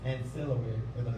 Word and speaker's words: ancillary: My wife told me how to pronounce the word. It's ancillary.